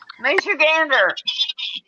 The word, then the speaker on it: Michigander: Do they say it like Michigander? Michigander. Like a flock of geese.